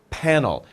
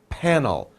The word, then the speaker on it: panel: many panels so solar panel and remember the P pronunciation panel panel lips together so we have solar